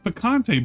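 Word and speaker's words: picante: I don't know how he pronounced it. It's piccante.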